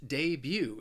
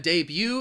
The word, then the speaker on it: debut: next word is debut it has two syllables and the stress is on that second syllable and the debut is just the first appearance of something or or even someone debut the reason why i think this word is often mispronounced is because you're you're not going to hear that that t at the end of the word it's almost that second syllable you're just you're just saying the letter u you debut debut for